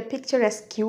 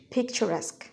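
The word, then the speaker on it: picturesque: routine আমাদের পরের শব্দটি হল পিকচারসক অনেকে এটা পচারসকউ উচ্চারণ করে এটি করবেন না এটির উচ্চারণ হচ্ছে পচারসক তো এটি অর্থ মনোরম বা দর্শনীয় আমরা সেন্টেন্সে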